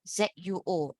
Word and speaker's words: zuo: Again, ZUO is what?